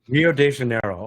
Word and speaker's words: Rio de Janeiro: it in Portuguese uh we say Rio de Janeiro Rio de Janeiro okay which is normally how you hear us Americans saying it as well so good